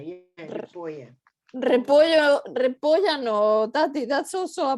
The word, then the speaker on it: repollo: Don't put the A at the end of repollo. Just repollo, no repollo.